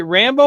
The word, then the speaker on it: Rambo: Is it Rambo or Rainbow? Rambo. Is it like Sylvester Stallone Rambo?